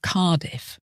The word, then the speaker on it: Cardiff: exactly as they're spelled the double F in Sheffield is pronounced as one letter and the same at the end of Cardiff and on the words